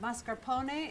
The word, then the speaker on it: mascarpone: This is mascarpone, pronounced mascarpone in Italian.